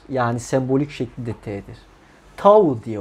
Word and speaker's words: Tau: Tau diye okunur.